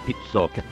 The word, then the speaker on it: Pizzoc: Scusate, mi dicono dalla regia che la pronuncia corretta è Pizzoc.